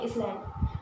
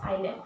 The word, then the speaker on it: island: बहुत से लोग आइलैंड एस का पता नहीं, यहाँ पे एस जो होता है वो साइलेंट होता है, ILAND नहीं होती, ठीक। इसको आप बहुत बच्चे को पता नहीं होता प्रोनाउंसिएशन क्या, तो इसको पढ़ते हैं इसलैंड, बट इट्स आइलैंड, ठीक है।